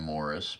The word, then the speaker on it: Maurice: The horse was named Morris, but it was spelled like Maurice.